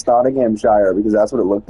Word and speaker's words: Nottinghamshire: I've noticed more times than not, I'm actually pronouncing them right. Like earlier, I kept saying Nottinghamshire because that's what it looked like, and then